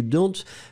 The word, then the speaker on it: dont: Remember that you don't really pronounce the E, the final E that's strong, so troupe. And then after that, it's don. Hein, don, remember that you should write it D-O-N-T. Don.